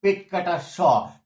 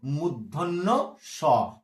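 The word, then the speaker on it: মূর্ধন্য ষ: পেট কেটে দেওয়ার জন্য একে বলি পেট কাটা স, পেট কাটা স। ছেলেরা যাতে সহজে মনে রাখতে পারে, কিন্তু না বন্ধু, এর নাম পেট কাটা স নয়। ঠিক আছে, ব্যাকরণ একে বলে কিন্তু মূর্ধন্য স, মূর্ধন্য স।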